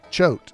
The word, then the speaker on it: Choate: Clara Edwards is keeping steady company with A, Clark Cooper, B, Henry Choate, that's how you'd say it, or C, Frank Chase.